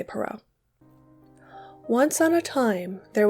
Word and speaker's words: Perrault: Blue be by Charles perau and yes that is how you say perau once on a time